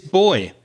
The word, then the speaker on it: buoy: Our next word is boy. It's not spelled B-O-Y, but the pronunciation is the same.